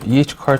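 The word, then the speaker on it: E. H. Carr: 미국식으로 하면 EH 카. car. EH car 처음 들어봅니다.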